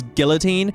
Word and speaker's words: guillotine: The way Nino pronounces guillotine. Oh, guillotine. Oh, is it guillotine? Oh, Nino, you workingass New Zealander piece of crap. Don't you know the French don't say the L is in guillotine.